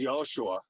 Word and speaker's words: Yahushua: The reason I point out Joshua, which was actually pronounced Yahushua, which is identical to the name of God.